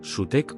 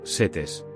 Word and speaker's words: Set: El nombre de Set, en egipcio antiguo, se pronuncia algo como sutec o setes.